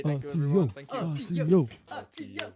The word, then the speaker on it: Artio: Artio. See, that's why it's 3 syllables.